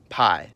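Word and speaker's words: п: This one comes from arguably the most famous Greek letter of them all, pi. It's called P. It appears in every cerillic using language and it sounds like P.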